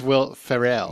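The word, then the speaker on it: Will Ferrell: in it and it's it's not will frell dude it's will farell will Fel yes and that's how they say his name oh my God it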